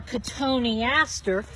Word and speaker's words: cotoneaster: Now this cotoneaster, when you spell it out, it looks like cotton Easter. I called it that once.